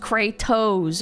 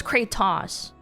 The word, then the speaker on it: Kratos: It's pre pronounced cratto, Alana. Emphasis on the toes. I thought it was crattos.